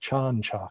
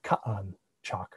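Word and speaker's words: Chan Chaak: you that this king you were meant to pronounce his name as chanchok not ka'an chalk for yucatecan but the logograms sometimes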